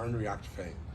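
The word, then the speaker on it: Ár nDraíocht Féin: Can you pronounce that for me? Arn Reactfane.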